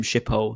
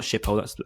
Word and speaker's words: Schiphol: It's honestly the first sighting you get coming from Schiphol, not Schiphol, that's the airport. What's it called? I can't pronounce the name of the station.